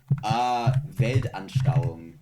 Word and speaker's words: Weltanschauung: Weltanschauung. Oh, damn, I forgot that the W's are pronounced as, yeah, fair enough.